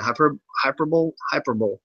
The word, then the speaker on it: hyperbole: Yeah, hyperbole.